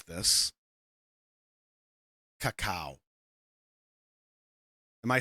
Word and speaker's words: Kakao: Before I continue, can I ask, how do I pronounce this? Kakao.